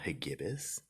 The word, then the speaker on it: Hagibis: Now, this storm is Typhoon Hagibis, I believe is how it's pronounced, and unfortunately I can't